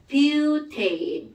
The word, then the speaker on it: 뷰테인: 뷰테인. 다 알아야 되는 겁니다. 이거 부탄가스라고 보통 부르지만 그걸 엄마들은 부탄가스, 우리는 엄마가 부탄가스 불러도 뷰테인이라고 읽어주는 겁니다.